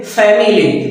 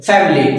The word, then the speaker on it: family: Family, family. So here this E sound, it is actually dropped or negated.